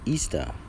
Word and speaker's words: Ishtar: Ishtar was also known as the Queen of Heaven, which is pronounced Easter, was a day that commemorated resurrection of one of their gods that they call Tammuz.